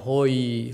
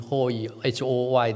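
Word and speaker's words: הוֹי: 那这灾祸当然，这个英文的 woe 这个字刚好跟希伯来发音一样，hoy h o y 的声音 hoy，那意思就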